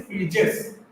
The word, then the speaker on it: Phryges: So sorry, the pronunciation is Phryges. For example, this is a French word, so it is pronounced as Phryges.